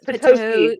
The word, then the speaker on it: Petoskey: Yes, Petoskey. It's a Petoskey. Petoskey stone. And if you say it the other way, you're wrong.